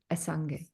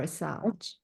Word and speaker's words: Assange: The Trust Fall, Julian Assange or Assange. It's pronounced both ways when they speak.